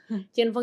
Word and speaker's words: Cinfung: Nama bacanya Chinfung. Iya, Chinfung.